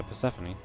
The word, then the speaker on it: Persephone: How do you pronounce it? It's just Persephone, no? Yeah, Persephone.